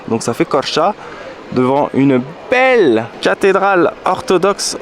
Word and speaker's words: Korçë: Et le E avec 2 points ça se prononce A. Donc ça fait Korça.